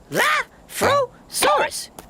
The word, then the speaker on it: Elaphrosaurus: I'm Elaphrosaurus. That's Elaphrosaurus.